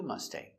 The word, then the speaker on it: Mustang: I want a new Mustang. I want a new red Mustang. So remember with the word mustang we have a g. Aing g always makes the long a sound like angry or sang.